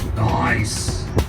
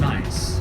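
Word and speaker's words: gneiss: On the right, ice. G N E I S S. Scientific name is pronounced ice.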